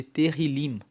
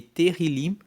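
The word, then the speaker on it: Tehilim: No na Bíblia original, na Bíblia hebraica, o livro de Salmos é chamado de terrilim. Se escreve T E H I L I M. E terilim quer dizer louvores.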